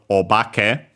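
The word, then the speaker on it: お化け: because we have seen the word obake, should be accent on the ba, quickly show it anyway, and so we'll also check its strictly Japanese, its accent, yeah, accented on the ba, so low, high, low.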